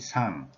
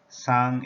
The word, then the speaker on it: 상: In Korean language, we teach 위, 상, 위, 상. 위 means top or above. Sang is the pronunciation in Korean language for this character.